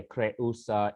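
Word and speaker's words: Creusa: by the way yeah kre usa is three syllables so this is not a diphthong um so may crayosa survive may your conjuncts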